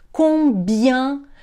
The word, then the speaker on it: combien: Repare que o EN ali tem som de un, combien.